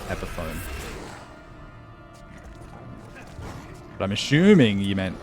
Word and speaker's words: Epiphone: Oh, the guitar's Epiphone, yes. Sorry, I was like, I read the word epiphany. I was like, that's how you say it, isn't it? Like Epiphone, yeah. Like telephone.